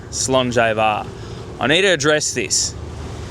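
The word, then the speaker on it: Slàinte Mhath: But, the proper way to say it uh is Slainte Var.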